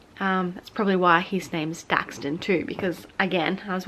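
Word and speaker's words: Daxtyn: So Daxton is his name, and it's spelled D-A-X-T-Y-N, not D-A-X-T-O-N. So it's not Daxton, it's not Daxton, it's Daxton.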